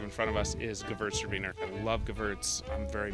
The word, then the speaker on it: Gewürztraminer: It's Gewürztraminer. The W is a V, right?